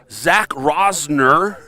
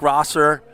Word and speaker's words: Rosser: All right, Zach Rosner. Hopefully the people at home are laughing about that, but it's Zach Rosser.